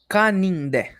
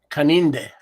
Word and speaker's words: Canindé: Canindé. Kaninde.